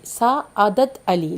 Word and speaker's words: Sa'adat Ali: Sa'adat Ali, like that the pronunciation.